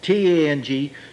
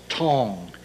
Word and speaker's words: Tang: T, the accent more, T-A-N-G. Normally you'd think it'd be Tang. Remember, Tang is a breakfast drink. It's pronounced Tong, T-O-N-G, from the Tang Dynasty.